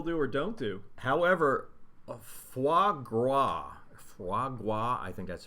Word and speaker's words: foie gras: However, foie gras, I think that's pronounced.